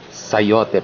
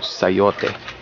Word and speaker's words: sayote: cha in front but in Filipino it's just plain s-a-y-o so sayote here's another one hopefully